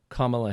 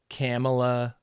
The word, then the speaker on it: Kamala: similar to the republicans now mispronouncing kamala harris's name on purpose they're calling her camella camella they're doing it all